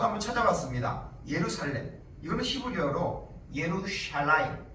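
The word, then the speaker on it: ירושלים: 찾아봤습니다 예루살렘 이거는 히브리어로 예루샬라임 해 보세요 한번 예루샬라임 예루샬라임 예 예루샬라임이라고 이렇게 발음합니다 예루살렘은 예루이라는 단어하나 아까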